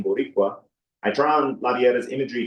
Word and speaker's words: Borícua: By invoking the title Ameri can and placing the accent on the I in Boricua, I draw on Laviera's